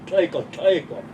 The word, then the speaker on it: Tleiko: And the proper pronunciation is Tleiko. So it's a repeat. It means you really mean it when you say thank you.